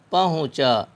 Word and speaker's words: پہنچا: زبر ٹا، کھونٹا۔ پہنچا، یہاں بھی بچے بہت سے اس میں غلطی کرتے ہیں، اس کا تلفظ ایسے ہی پہنچا، پے زبر پا ہے پیش ہو نون غنہ چے الف زبر چا، پہنچا۔ اردو میں دو حرف